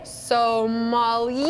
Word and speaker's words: sommelier: did I say it wrong so so yay so Molly yes yes we're gonna teach you the ropes